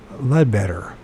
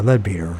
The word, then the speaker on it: Leadbeater: in the book of Leadbetter, or Leadbeater, depending on which you pronounce it. Better, I guess it's Leadbeater.